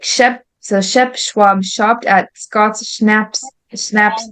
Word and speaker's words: Schwab: a little longer so Shep Schwab so that's pronounced Shep and Schwab Chef Schwab shopped at Scott schnaps shop one